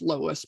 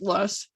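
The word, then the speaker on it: loess: and that's spelled l-o-e-s-s i for years i thought that was lowest but i've been informed that it's less very set of deep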